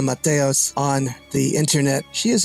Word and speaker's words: Mateos: name is Dr Mator am I pronouncing that right well yeah my my real name is Matos uh but I go